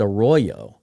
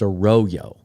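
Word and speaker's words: Arroyo: that spelling of a last name, it's usually pronounced a royo. But in his case, I learned this from Daniel Jeremiah, it's a royo.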